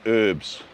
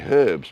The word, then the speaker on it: herbs: in there as well or as the Americans say herbs an American asked me once all you American people watching said why do British people say herbs and Americans say herbs and I said well British people say herbs because there's a bloody H at the beginning of the word I didn't say bloody